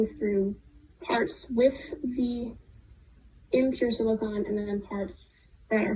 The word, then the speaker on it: silicon: But I had a silicon book, and people would always be like, "That's not a thing. It's silicone." And that's why I mispronounced it before the episode, is because I got them mixed up after that because people would call it silicone instead of silicon, and then I just